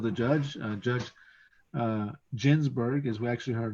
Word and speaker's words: Ginsburg: judge uh judge uh ginsburg is actually her name this that's the proper way to pronounce it is ginsburg not ginsburg but a lot of people say ginsberg but that's how it